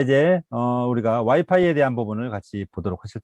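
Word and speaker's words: Wi-Fi: 예, 와이파이라고 읽는 사람도 좀 있지만 위피, 프랑스 비롯해서 많은 유럽의 사람, 동유럽 사람들은 위피라고 있습니다.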